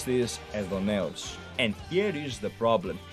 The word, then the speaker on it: Aidoneus: Okay, you guys would pronounce this Aidoneus. I pronounce this Aidoneus.